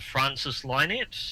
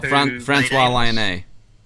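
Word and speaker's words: François Lionnet: to pronounce his name, Francis Lynette. Oh, Francois Lionnet. Francois Lionnet, yes.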